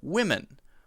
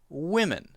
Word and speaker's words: women: And the next one is wi, men, women, women.